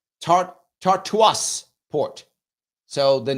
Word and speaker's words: Tartus: I think it's pronounced Tartus, I think. I'm going to look at it right now so I can find this thing here. It is, I think it's pronounced Tartus. It's Tartus.